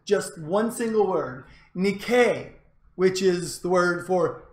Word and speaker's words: Nike: Athens, he reputedly said just one single word, Nike, which is the word for victory, which is also the word that many of you have on your shoes and other clothing apparel at home. We pronounce it Nike.